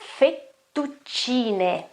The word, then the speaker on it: fettuccine: Another kind of pasta is this one here, and the right pronunciation is fettuccine, fettuccine.